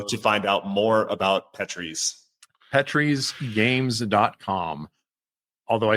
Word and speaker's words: Petrie's: Oh, and also thank you for pronouncing it correctly. I didn't have to correct you on anything. So. The Petries. Yep. We are not a petri dish.